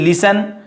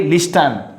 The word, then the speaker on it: listen: So here is listen, don't say listen. Here is T is silent.